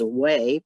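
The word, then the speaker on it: 危: the right-hand side character, which is way, pronounced way, and it is a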